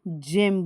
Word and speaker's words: gem: और यहाँ पर जेम यानी हीरा दिख रहा है, देखो GEM जेम बोलते हैं हम इसको, गेम नहीं बोलते हैं।